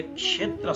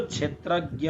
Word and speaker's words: क्षेत्र: र यहाँनिर हामीले क्षेत्र शब्दको उच्चारण गर्दा यसरी हेर्ने, क र मूर्धन्य स भनेको पेट चिरेको सको सबाट बनिएको हुन्छ क्ष। त्यसकारणले यसको उच्चारण हामीले गर्छौं क्षेत्र, क्षेत्र, क्षेत्र होइन क्षेत्र।